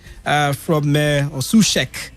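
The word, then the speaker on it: Souček: joining on loan thomas susek uh from uh sushek as he's pronounced rather from slavia praga on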